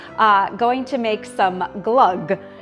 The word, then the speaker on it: Glögg: Uh going to make some glug. So glug is a Swedish mold wine. And it is spelled G L O with an umlout, G.